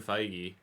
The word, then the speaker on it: Feige: of Hugh Jackman's Wolverine apparently him and Kevin feige that's how you pronounce it right foggy yep I had a